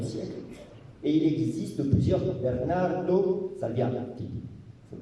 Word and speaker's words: Bernardo Salviati: Les Salviati sont nombreux à Florence, à la fin du XVe siècle, et il existe plusieurs Bernardo Salviati. Il faut prononcer comme ça.